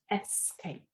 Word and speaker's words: escape: This is a common error, but it's spelt escape, not X. It's pronounced escape.